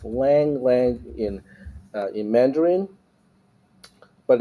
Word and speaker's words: Lang Lang: this really carefully Lang Lang okay so it's Lang Lang in uh in Mandarin but it's you in cantones it's pronounced as long long yeah so there we go all right huh